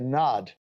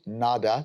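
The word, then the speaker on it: nāda: inner sound the anahata NAD anahata meaning unstruck and Nod meaning sound sometimes it's pronounced NADA depending on which part of India you're from NAD or nada sound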